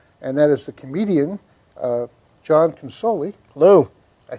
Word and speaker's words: John Consoli: our next guest and that is the comedian John consoli hello I said it right you did you